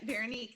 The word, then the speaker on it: Veronique: I said, "How do you pronounce her name?" So, we're like Veron Veronique. Yep. Veronique.